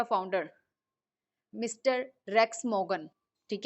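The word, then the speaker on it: Rex Maughan: अब कंपनी को स्टार्ट किसने किया था, हु इज़ द CEO, हु इज़ the founder, mister racks मोगन, ठीक है, आपको इनका नेम प्रोनाउंसिएट करना आना चाहिए।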